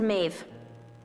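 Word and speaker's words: Meadhbh: You know better than to listen to Maeve. That's how you pronounce that?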